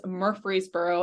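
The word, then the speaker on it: Murfreesboro: an introduction and uh yes car you did pronounce that correctly it is Murphreesboro and that is my hometown what where up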